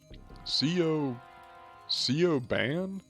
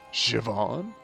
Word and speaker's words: Siobhan: C.O. Ban? Siobhan. No, wait. It's pronounced Siobhan.